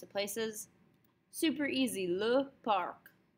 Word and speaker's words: parc: It's pronounced pretty much the same. Park, park. But we spell it a little bit differently. We don't like K's at the ends of the word in French, so we're going to spell it with a C instead. But it still gets pronounced.